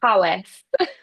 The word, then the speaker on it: Powys: Well done with the Welsh pronunciation there. I mean, it could have been anything, being Welsh language. So I'm Gonna glad that say it's they are not known for their easy pronunciation. so I'm glad that it's how it looked.